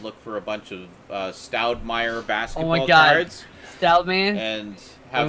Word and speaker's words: Stoudemire: I will find out the Stoudman rookie card. You're not saying it right. It's Stoudemire.